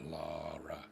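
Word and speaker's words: Lahra: It's what it's spelled. L-A-H-R-A. Laura.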